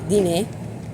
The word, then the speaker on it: dîner: In English, it's diner. Right. In French, would be dîner.